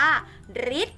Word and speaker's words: ฤทธิ์: นี่ คือ จะ ละ ที่ ออก เสียง ว่า ริ ได้ แก่ คำ ว่า ฤทธิ์ ฆ่า เด็ก ๆ ฤทธิ์